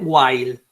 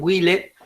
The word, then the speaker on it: while: Como por ejemplo esta que se escribe así y se dice While Sí lo puse acá en castellano para que no me digan hile alguno este o para que no lo diga por ahí no porque no lo van